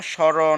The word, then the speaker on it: স্মরণ: কি এক নাম্বারে লিখেছিলাম শব্দের প্রথমে ম ফলা যুক্ত হলে ম ফলায় উচ্চারণ হয় না যেমন স্মরণ শ্মশান স্মৃতি এবার আমরা